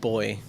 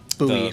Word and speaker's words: buoy: Um, I would try to throw them a life jacket or a boy. Buoy. How do you say it? Buoy. Boy. We Americans say buoy.